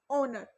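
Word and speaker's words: honour: next है आपके पास ओनर, ठीक है, ये शुरू बेशक एच से होता है बट आप इसे हमेशा ओनर प्रोनाउंस करते हो, ओ से स्टार्ट करते हो, एंड ये हमारे पास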